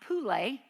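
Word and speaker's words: πύλη: either way it's a a Greek word that's uh pronounced pulle and um it means this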